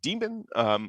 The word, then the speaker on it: daemon: and formerly unix land i usually pronounce it as daemon but technically speaking if you read the like letters it's actually demon it's i think a